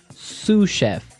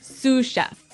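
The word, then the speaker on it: sous chef: Sue chef. Sue chef. Sue cheef. S o u s. So the s is silent because it's like a French word.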